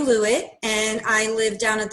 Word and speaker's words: Lewit: tell us your full name yes i'm lewitt i spell that please uh that's t-a-n-j-a last name lewitt